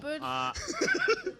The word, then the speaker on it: Svipul: pretty sure, is how on earth do you pronounce the Minmatar Tech 3 destroyer? So simple. Svipul.